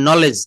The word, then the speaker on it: knowledge: যেমন নলেজ, আমরা কিন্তু এই কেটা বাদ দিয়ে বলি ন লেজ, KNOWLEDGE।